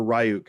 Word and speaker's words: Ryuk: Whenever Ryuk hit, or Ryuk, however you want to pronounce it. I'm a gamer, so it's Ryuk.